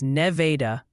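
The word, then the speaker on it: Nevada: Oh, and the pronunciation patrol wanted you to know Okulgi is Oak Mulgi with a G like grapes and it's Neveda, Missouri.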